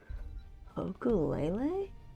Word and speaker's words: ukulele: thanks for the follow oku lelay you know often times I want to say ukulele because I feel like that's how it's pronounced but then I feel silly because I speak American English anyways so there's the brightwing